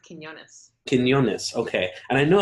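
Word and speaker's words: Quiñones: say your last name it's pronounced Quinones Quinones okay and I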